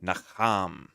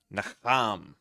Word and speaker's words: Nacham: It says the emphasis is on the second syllable. Nacham. Nacham.